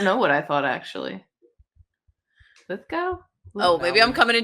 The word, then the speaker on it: Lithgow: got to say, Nick, it's Lithgo. Really? I've always thought it was Lith Go. I thought I don't know what I thought actually. Lith Go.